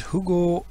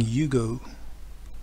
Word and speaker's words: Hugo: And Hugo Hillenbrand. Let's just Google him. Hugo Hillenbrand. I'm saying Hugo. You like you would say Hugo if you're British. In German it's the Hugo.